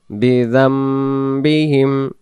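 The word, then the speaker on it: بِذَنبِهِمْ: بسم الله الرحمن الرحيم فاعترفوا উচ্চারণটা আমরা ফা আইন জবর ফা ফা গলা লাগবে ফা'তারাফু বিযামবিহিম বিযামবিহিম বিযামবিহিম ফা'তারাফু বিযামবিহিম। এখানে ছোট মিমকে আমরা ধরব, জাল মিম জবর যাম বিযামবিহিম ফা'তারাফু বিযামবিহিম ফাসুহকাল্লি আসহাবিস সাঈর ফাসুহকাল্লি আসহাবিস সাঈর ফা'তারাফু বিযামবিহিম ফাসুহকাল্লি আসহাবিস সাঈর।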